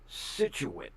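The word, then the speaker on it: Scituate: Situate. Situate, Rhode Island. It looks like or something when you spell it out. It's pronounced Situit.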